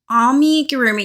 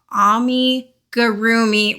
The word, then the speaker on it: amigurumi: I automatically say amigurumi, but I know that it's supposed to be amigurumi, and my brain just does not want to say that correctly, so please forgive me.